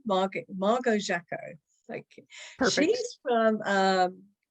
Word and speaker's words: Jacquot: And one of them was how to pronounce this delightful lady's name. She is Margo Jacquot. I think I've got it right. Jacquot, Margo Jacquot.